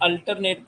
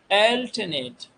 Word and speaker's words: alternate: मिलेंगे, राइट, तो एल, अब इसे लोग अल्टरनेट पढ़ते हैं, लेकिन वास्तव में आप प्रोनाउंसिएशन देखो, एल्टरनेट। एल जोर कहाँ देना है, एल्टरनेट। एल्टरनेट यूके, तो इसका मतलब है